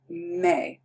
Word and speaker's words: me: So in Spanish, it's going to be me. Remember, the E is pronounced like an A sound.